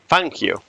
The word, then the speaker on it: Fangio: I can only say that Fangio is actually pronounced Fangio.